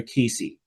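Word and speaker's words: Cayce: So, I do this once a year, and I learned about this through the teachings of Edgar Casey. So, Edgar Casey, his last name is spelled C A Y CE.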